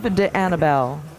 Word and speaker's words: D'Annibale: Steve DeAnnabelle. That's how Chris Swart told me to pronounce it.